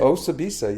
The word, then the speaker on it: Osibisa: How do you pronounce it? Osibisa, yeah, that's correct.